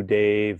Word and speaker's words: Dev: Om Namo Guru Dev Namo, and the Dev is pronounced Dave, like David. So it's Om Namo Guru Dev Namo.